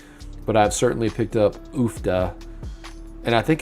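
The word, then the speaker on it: uff da: But yeah, one of the words I say up here is oofda. And so I'm assuming it's spelled UFFDA, oofda.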